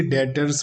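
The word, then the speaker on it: debtors: पहले भी समझाया था बैटर में भी साइलेंट होता इसलिए डेटर्स बोलते हैं चैप्टर नहीं बोलते हैं डिश स्टील और सम्मान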